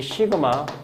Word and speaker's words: 시그마: 수학에서 너희가 요즘 확률 통계 안 배우는 사람이 많긴 한데 이 시그마, 이걸 시그마라고 읽습니다. 시그마.